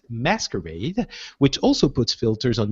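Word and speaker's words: MSQRD: app called em at ms qrd pronounced masquerade which also puts filters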